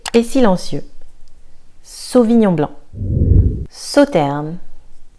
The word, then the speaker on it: Sauternes: Sauternes, le S ici est silencieux. Donc pas Sauternes, Sauternes, Sauternes.